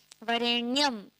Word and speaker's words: वरेण्यम: ये तो ठीक है इसको भी कई लोग बोलते रेयम नहीं आधार है वहा प तो आधा ही उच्चारण करना वरेणम या वरेण्यम नहीं वरेण्यम ठीक है आगे क्या आता